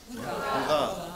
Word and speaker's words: Hurra: How do you say hooray in Deutsch? Hurrah. Hurrah, right. Hurrah. It's English for hurrah. You say hooray. It opens the mouth. Hooray. You see? Hooray. Germans say hurrah.